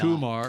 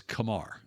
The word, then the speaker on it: Kumar: let you know that the correct pronunciation of his first name is Kamar Kamar Kamar that sounds